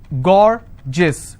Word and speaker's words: gorgeous: as well for example i have a word gorgeous so gor jis two-syllable i will stress on gore s-i-o-n tension pension so